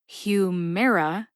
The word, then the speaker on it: Humira: a i r a note that it says air a i r air like the air we breathe right Humera then is a hint